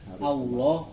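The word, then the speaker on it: الله: tebalnya bacaan yang pertama lafadz Allah Kalau depannya fathah atau domba aku itu harus tebal Allah Allah kalau tipis di depannya kasrok ilah lillah lillah Billah Billah teknik-teknik Gimana caranya baca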